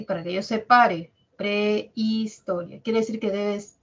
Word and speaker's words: prehistoria: si tenemos la palabra Prehistoria Prehistoria la H no cuenta H no cuenta cómo